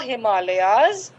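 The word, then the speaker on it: Himalayas: इसकी प्रोनाउंसिएशन, इसका उच्चारण होगा द हिमालयाज, हिमालयाज।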